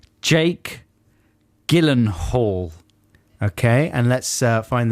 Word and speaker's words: Gyllenhaal: l e n h a a l so jill hen this is how i pronounce it because the j i think is